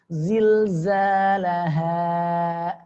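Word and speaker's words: زلزالها: Ha di pangkal tenggorokan. Ya, zilzalaha, laha. Dua harakat ya. Laha. Baik. Perhatikan ya. Jangan sampai pengucapannya seperti ya, huruf ha tengah tenggorokan. Zilzalaha. Atau huruf ha Indonesia. Zilzalaha. Laha. Laha di Indonesia ya, hanya sebatas dia di rongga mulut ya. Laha, zilzalaha ya. Maka salah. Baik, pengucapannya adalah ha pangkal tenggorokan.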